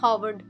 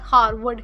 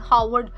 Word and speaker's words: Harvard: Number four पे है हमारे पास हॉवर्ड। यहां पे परेशान ना होइएगा मेरे बच्चों। यहां पे यह जो आर है यह साइलेंट है। इट इज़ नॉट हारवर्ड। इट इज़ हावर्ड।